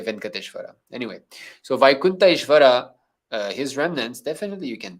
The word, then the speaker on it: Venkateshwara: Venkateshwara is actually a wrong pronunciation. Although everybody says Venkateshwara, it's Vaikunta Ishvara.